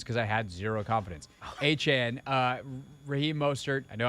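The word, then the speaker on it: Achane: Acne had 203. A-Chan. Or A-Chan, my bad. Yep. My He bad. corrected everybody. He was like, it's Devon A-Chan.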